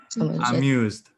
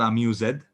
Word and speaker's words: amused: was what i'm using amused by the clown so amused reading is pronouncing well oscar it's not amused it is not a mused the e is very very small amused okay almost disappear okay exactly so number